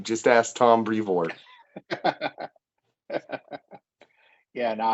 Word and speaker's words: Brevoort: And I'm like, yeah, no, but I can finally pronounce Tom's. It's Brevoort.